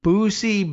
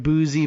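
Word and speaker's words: Boosie: Is that how are we pronouncing like boozy Badass? It's spelled B O O S I E. Booy, but I guess probably boozy badass.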